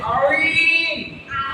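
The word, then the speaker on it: ع: এই আইনটা হচ্ছে যে দারমিয়ান হালাকছে, মানে গলার মিডিল অংশ থেকে উচ্চারণ হবে। গলার মিডিল অংশ থেকে। তাহলে আইন, আইন, আইন, পেরেছো?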